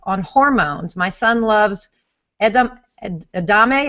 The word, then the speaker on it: edamame: hormones my son loves Edam adame is that how you pronounce it edamame yes edamam should I limit